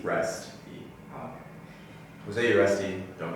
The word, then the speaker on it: Uresti: Uresti. Uresti. Uresti.